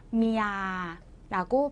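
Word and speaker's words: เมีย: 그러면 읽을 때는 자, 장모음 길게 미야라고 발음을 해주시는 거예요.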